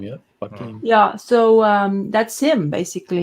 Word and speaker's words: Joaquin: So that's Joaquin Phoenix. Is that what's his name is? Joaquin? That's how you say his name, yeah. Joaquin.